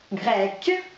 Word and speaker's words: grec: У нас есть два прилагательных грек, grec, заканчивается на «с». Согласно у нас звук, да, но мы прибавляем с вами «q», Произношение не меняется.